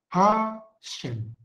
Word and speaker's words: HaShem: Nah, kalau ketemu H dengan Yud, ini bacanya adalah sama. Hashem. Nama itu.